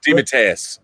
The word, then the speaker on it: DeMatteis: How do you pronounce the last name? DeMatteis.